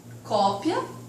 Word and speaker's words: cópia: Aqui são as homógrafas, que na escrita serão idênticas, mas a pronúncia e o significado também automaticamente serão diferentes. Cópia, que é o substantivo, e copia, que é o verbo, ok?